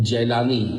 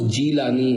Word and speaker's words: جیلانی: آپ تشریف لائے تھے۔ اس جگہ کو وہاں کے لوگ جیلانی یعنی جیم کے زبر کے ساتھ بولتے ہیں، اصل تلفظ جیلانی جیم کے زیر کے ساتھ ہے۔ یہاں غوث پاک کا